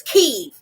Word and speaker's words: Kiev: Because y'all need to be pronouncing the correct way. It's Kiev.